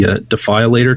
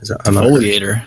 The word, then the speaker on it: Defoliator: The Defilator tank. Defoliator? Defoliator. Yeah, Defoliator.